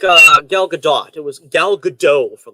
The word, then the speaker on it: Gal Gadot: benoist and how and since i actually hear gal gadot pronouncing her name as gal gadot i'm going with that i'm sorry to say